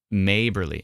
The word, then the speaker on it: Maberly: years ago uh oh it's maberly oh maberly okay so not ma but maberly good to know that's aw